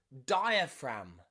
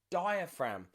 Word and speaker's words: diaphragm: new paradigma diaphragm okay so g and m together often means the g is silent okay so let's look